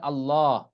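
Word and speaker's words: اللّٰه: আল্লাহ শব্দের লাম উচ্চারণের বিধান দুটি। আল্লাহ শব্দের লামের ডানে যদি জবর কিংবা পেশ থাকে তবে উক্ত লামকে সবসময় মোটা করে পড়তে হয়।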